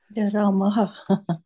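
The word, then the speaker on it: रामः: Ramaha. Okay, so because it is specifically written as Ramaha Vanam Gacchati, and in Saṁskṛta there is no silence letters. So if it is written, it is pronounced.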